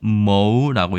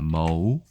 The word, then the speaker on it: 魔: 중국어로는 머우라고 얘기합니다. 머우.